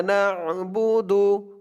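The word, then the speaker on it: نعبد: নাবুদু ইয়াকা নাবুদু না আইনের উচ্চারণটা কিন্তু শক্ত করতে হবে না ইয়াকা নাবুদু জবর ওয়া হামজা ইয়া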